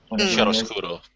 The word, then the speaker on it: chiaroscuro: The how is it pronounced? Chiaroscuro? Chiaroscuro? Chiaroscuro.